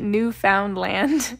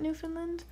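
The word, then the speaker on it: Newfoundland: from New Finland and pronouncing it new found land is a cardinal sin um and she said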